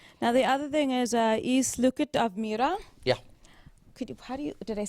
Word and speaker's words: I sluket av myra: Now, the other thing is Isluket av myra. Yeah, Did I say it right? I sluket av myra.